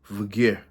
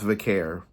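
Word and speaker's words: Vaquer: Grayson, Julia challenge Stephanie Vagar. I know it's Vicare. It's It's Vare. I've been saying her name wrong for all this time. It's Vicare, but I say Ver as an accent.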